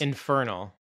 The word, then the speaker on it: Infernal: And is it Infernal Affairs or is it Internal Affairs? Infernal.